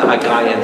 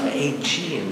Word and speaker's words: Aegean: So I do have to gently guide them in their pronunciations. Okay, and the Aegean Sea. No, Aegean Sea.